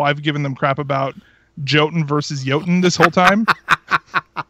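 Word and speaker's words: Jötunn: And they basically replied back saying, actually, yeah, in the original language it is pronounced Jotun, but here, I'll see if I can find it.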